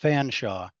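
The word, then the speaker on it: Featherstonhaugh: It's pronounced Fanshawe. So G.W. Fanshawe goes to the Bechtler Mint and asks Bechtler, and he records this in his book, right?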